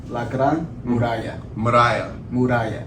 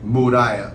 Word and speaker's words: La Gran Muralla: La Gran Muralla. Muralla.